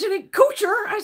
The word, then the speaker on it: Couture: I go, that's not how you pronounce it. Well, it's the American way of pronouncing it. He goes, that's the American way. I said, that ain't the fucking no. I said, it's Couture or Couture. Couture. Couture. I said, it's fucking French.